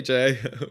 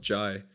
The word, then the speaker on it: Jai: Hey Jay, welcome, or Jai, sorry. I guess it's pronounced Jai.